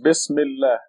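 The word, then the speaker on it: بسم الله: Together, the article Al becomes silent and becomes Bismillah.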